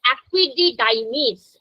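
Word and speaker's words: epididymis: तो वास एफिरेंस एपिडिडाइमीस एपिडिडाइमीस अच्छे से प्रोनाउंस करना है एपिडिडाइमीस है ना वर्ड को तोड़ के पढ़ना है तो इंग्लिश पढ़ने में आसान लगेगी एपिडिडाइमिस वास डेफिरेंस इजकुलेटरी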